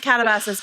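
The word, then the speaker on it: katabasis: Seems like some of the pronunciation guides go with a little bit more of a a Captopasis. Katabosis. I don't know. Katabosis. And I was just like, I really hope Joanna has it first. I believe it is. I believe it is Catabases, but please do. That's my inclination is to pronounce it that way.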